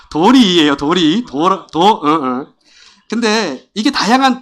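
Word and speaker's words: 鳥居: 예 이거 잘 아시죠 이런 것들을 발음 잘해야 돼요 도라이 도리이 잘 아니에요 도리인데 내도 도리이에요 도리도도 어응 근데 이게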